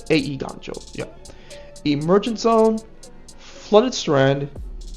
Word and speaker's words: Eiganjo: creature section City Traders eiganjo seat of the Empire or a eiganjo that's how you pronounce it cuz it's Japanese a e ganjo yeah emergent Zone flooded